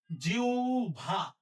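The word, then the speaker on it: জিহ্বা: আবার বলি হ ব যুক্ত বর্ণ থাকলে উচ্চারণ লেখার ক্ষেত্রে ব সবসময় ভ হবে হ এর জায়গায় উ লিখতে হবে যদি তার ঠিক আগে ই উচ্চারণ হয় যেহেতু জি হচ্ছে জি হচ্ছে ই উচ্চারণ হচ্ছে তাহলে আমরা এটা কি লিখব প্রথমে জি লিখলাম এর জায়গায় উ লিখতে হবে আর ব এর জায়গায় ভ দিতে হবে তাহলে হবে জিউভা জিউভা তাহলে এটা হচ্ছে জিউভা ভবিষ্যৎ ব্রাহ্মণ শ্রদ্ধাস্পদ মহত্ব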